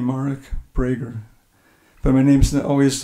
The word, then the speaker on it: Marek Breiger: to go okay and I pronounced my name mark brager but my name's always